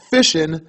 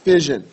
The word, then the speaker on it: fission: about is nuclear fishing again that's fishing not fision okay it's kind of like the way you would pronounce it would be um what Southerners would do when they go out in the lake that would be fishing okay me from the north I call that fishing but regardless now when